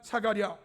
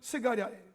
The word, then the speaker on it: 스가랴: 그리고 제단과 성전 사이에서 죽임을 당한 사가랴, 이 사가랴는 신학적인 발음이고 구약적 발음은 스가랴예요.